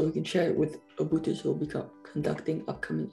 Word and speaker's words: Obooters: short message so we can share it with Obooters who will be conducting upcoming interviews? Could I summarize your key tips, like for interviews? Ah, okay. And this is for a message for the Obooters. Am I pronouncing that right?